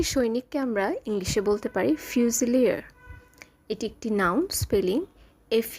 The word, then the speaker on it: fusilier: পাশাপাশি জানবো শব্দগুলির বাংলা অর্থ, ইংলিশ উচ্চারণ এবং শব্দগুলো দিয়ে গঠিত একটি বাক্য। বন্দুকধারী সৈনিককে আমরা ইংলিশে বলতে পারি ফিউজিলিয়ার। এটি একটি noun spelling. F ইউ এস আই এল আই আর ফিউজিলিয়ার।